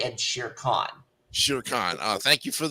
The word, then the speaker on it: Shere Khan: One, I'm gonna give this 78, and two, the pronunciations are Mowgli and Shere Khan.